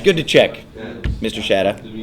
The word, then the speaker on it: Shada: Is that how you pronounce it? Shada?